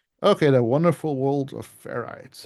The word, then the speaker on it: ferrite: the wonderful world of ferites and not feret people sometimes say it wrong um so this is